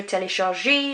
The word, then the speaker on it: téléchargé: I don't pronounce this one because there's no accent. I do pronounce this one because there is an accent. Télécharge, téléchargé. So that E accent is like an A sound.